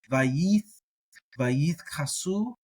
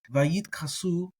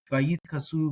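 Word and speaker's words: וַיִּתְכַּסּוּ: So a lot of people, you hear them say Vayit Kasu. I pronounce it as a t, like a t. Either way, whether it has the dagesh or not. Vayit Kasu, and at the speed of speech, you almost can't tell the difference.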